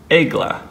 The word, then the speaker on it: Aegle: a little bit there it is it is pronounced egg LA as in the Greek myth alone mythological goddess